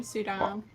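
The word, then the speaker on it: Suydam: Is that how you pronounce his name? Sudam.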